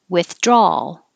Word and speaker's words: withdrawal: girl and curl squirrel withdrawal so the ah forget about the second a in the word because even i didn't believe it was spelled this way but you don't hear that a at the end you just hear draw and you're making an ah draw and then your tongue goes up for the l if you have